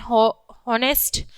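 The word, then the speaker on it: honest: Before a noun that begin with a silent H, ठीक, silent H, जैसे कि example में N horse N हॉनेस्ट मैन, ठीक है, एन हेयर एन हॉर, ठीक।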